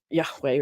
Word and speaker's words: Yahweh: That in the Hebrew, all you see is the tetragrammaton, Yahweh, which is sometimes pronounced Adonai to avoid pronouncing the holy name of God.